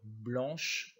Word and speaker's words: blanc: ne se prononcent pas la couleur blanche on y blanc le sait là encore ne se prononcent pas le vent devant le